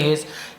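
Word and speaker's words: haste: यानी क्या होता है हेश नहीं पढ़ेंगे हेस हेश यानी होता है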